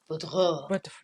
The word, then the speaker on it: Boudreau: How do you say that? Boudreau. Yeah, sounds very French.